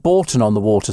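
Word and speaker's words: Bourton-on-the-Water: over wouldn't they uh it's pronounced Borton on the water Steve says Jillian Warick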